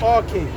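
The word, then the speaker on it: arche: But it's pronounced R-K. That's the Greek way to say it. Okay. It sounds Yeah, like okay, okay. It sounds like the root of archaic Okay.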